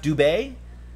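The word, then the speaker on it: Dubé: it's his four names pronounced Dube that's how they pronounce it in France led Dube don't either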